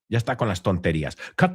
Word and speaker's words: cut: So, cut rhymes with mut.